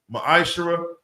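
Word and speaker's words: מעשר: 3: 8-10 means 10 in the Hebrew it's pronounced Maisha 10% of every penny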